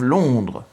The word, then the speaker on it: Londres: I used to tell people I was from Londres instead of Londres. They thought I meant Les Landes, which is a department in southwestern France. So en and on are very different.